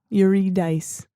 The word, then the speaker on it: Eurydice: him while walking out into the light it's pronounced dice Yu dice um but he could not look at her